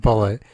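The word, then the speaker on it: Bulleit: Yeah, but it's Bulluet, I think, but it's pronounced Bullet.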